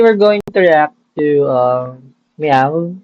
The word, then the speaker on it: MEOVV: Today we're going to react to Meow, spelled with M-O-W-V.